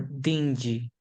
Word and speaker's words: dingy: pronunciation of that war it's dinky or dingy it's like Benji okay thank you I